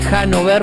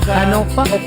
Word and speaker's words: Hannover: Yo te dije Hannover, pero vos me dijiste cómo se pronuncia. Hannover.